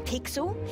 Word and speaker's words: Pixel: I'm Pixel. It's easy to remember because it rhymes with pickle.